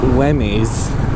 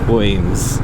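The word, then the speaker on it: Wemyss: Also, I found out that Wemmies, and I think that's how I pronounced it in the Danesford video, is actually pronounced Weems, so forgive me for that.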